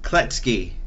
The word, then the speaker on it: Kloetzke: alejandro okay then without further ado let's talk to chase klutz key I am very excited to have on the show chase klutz key they say it right you absolutely did just